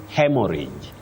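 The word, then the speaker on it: haemorrhage: Betty, you say hemorrhage. Hemorrhage. Okay. Not hemorrhage. Not a hemorrhage.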